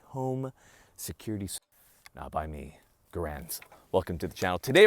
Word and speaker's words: Garand: of his name being pronounced was Garand, as in errand.